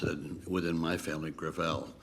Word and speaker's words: Gravel: the next witness senator gravel with all due respect let me correct uh i pronounce it within my family griffell it's a french name thank you i want